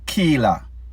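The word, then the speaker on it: Khighlah: excess of seven years that young lady's name Keela k h i g h l a h it is spelled she is exposing all of her and popcorns dirty laundry based on what Kila is saying she claims that purses are dissing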